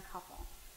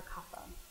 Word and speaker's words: kapha: And oftentimes you'll hear people say, well, I'm a vata, or I'm a pitta, or I'm a kapha, or kapha. Both pronunciations are okay.